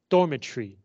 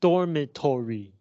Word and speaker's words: dormitory: By the way, notice how I said that word, dormitory. Not dormitory, dormitory. In English, this O does not make a sound.